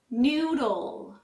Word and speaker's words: noodle: may seem easy but this word is especially hard for Chinese speakers since it has a D and L sound back to back noodle for the L sound you move your tongue to the roof of your mouth noodle this